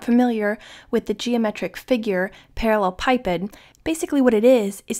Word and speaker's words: parallelepiped: find the volume of the parallel pipid also sometimes pronounced the parallelopiped determined by the vectors